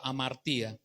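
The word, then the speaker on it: ἁμαρτία: griego que se que se escribe amaría se pronuncia am María errar al blanco ese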